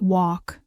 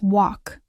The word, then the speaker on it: walk: Then there's the silent L in words like walk, talk, calm, and half. A lot of learners want to say the L clearly, but in natural English that L disappears. So, it's walk, not walk.